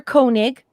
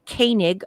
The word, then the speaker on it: Koenig: three were involved walter koenig but some people in the united states pronounce it canig i don't know why whose character chekhov stops